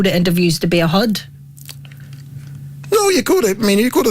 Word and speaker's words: hod: what is a bunch HUD is it's spelt hard Oh Judy but it's HUD HUD is what you put bricks in oh no HOD carrier